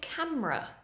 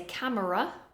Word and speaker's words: camera: Next one is camera. We don't say camera, camera, camera.